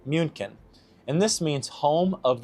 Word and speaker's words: München: München seems like that's how they pronounce it, and Munich is how we pronounce it in English.